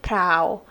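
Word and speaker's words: พราว: And in Thai, it is actually pronounced like prao, and it means like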